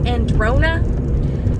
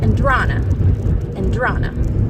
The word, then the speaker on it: Andrana: People want to say Androna, and you know, nails on a chalkboard. It's Andrana, which is why I picked, because it rhymed and I thought it was cute.